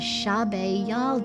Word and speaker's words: Shab-e Yalda: In Iran, the solstice is celebrated as Shab-e Yalda [pronounce Shawbay Yawldah], or ‘Yalda Night,’ a time to gather and honor the victory of light over darkness.